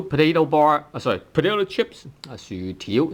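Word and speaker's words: 薯條: 薯條薯 tone 6 條 tone 2.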